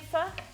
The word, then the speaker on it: pho: vietnamese food in australia it looks like it should be said pho it does look like it should be said faux but it's and that's the way i used to pronounce it way back when but i was corrected multiple times and told it was fu um well it's basically